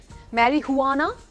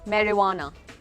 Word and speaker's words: marijuana: मैरिजुआना तो नहीं बोलते, मैरीहुआना नहीं बोलते, मैरिवाना। It's called marijuana. मतलब बोलते ही लगता है हमने कितनी बड़ी चीज़ बोली है ना। हाँ, सो मैरीहुआना नहीं, मैरीवाना।